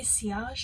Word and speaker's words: sillage: good siage or sillage i i want to pronounce it sillage but i heard somebody say siash and it just sounds so nice so the sea odge is